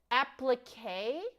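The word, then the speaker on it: appliqué: Oh, it's applique. Have I been saying it wrong this whole time?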